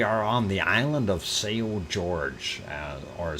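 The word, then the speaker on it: São Jorge: azores uh we are on the island of sao george uh or sao jorge and if you want to pronounce it uh in spanish uh but uh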